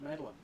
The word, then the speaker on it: Magdalene: Which is actually pronounced Madeline. Mostly.